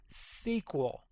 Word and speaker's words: SQL: way to pronounce this you will hear it pronounced all kinds of ways the correct way as you see right here is SQL as if it was spelled out s e